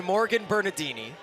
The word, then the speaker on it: Morgan Bernardini: So it's a senior from Illinois, Morgan Bernardini. Well done. Thank you. Yep. Apologies for the first inning mispronunciation.